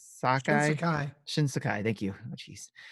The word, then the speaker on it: Shinsekai: But the game that had me diving in right away, no pun intended, was the Shinsakai. Shinsekai.